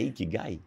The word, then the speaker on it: ikigai: E tem um outro lá também no seu currículo, eu não sei se eu pronunciarei certo, você me corrija. O que é ikigai? É ikigai.